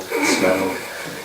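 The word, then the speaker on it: Smaug: um desolation of smell smell is apparently how it's pronounced um smell the dragon smoke small smell yep he's heading off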